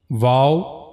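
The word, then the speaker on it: و: Then the next letter wow. The origin of this letter is circling the two lips without meeting completely means your lips should not meet to each other but you have to circle them.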